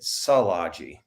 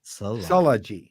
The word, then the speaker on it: Szilagyi: I say it Szilagyi. Szilagyi. Yeah. Oh, so it's like trilogy.